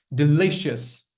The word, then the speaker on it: delicious: Delicious. Don't say shas. Don't say shas. It's not shas. It's shus. Sh.